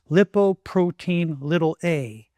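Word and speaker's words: lipoprotein(a): Number three is lipoprotein A, pronounced lipoprotein little A, or simply LP little A.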